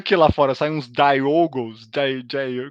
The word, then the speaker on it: Diogo: Como é que eles pronunciam o teu nome? É, como tem espanhol já é bem mais comum lá, e tem muito Diego, né? Diego. Ah, Eles falam Diego. Diogo. Diogo.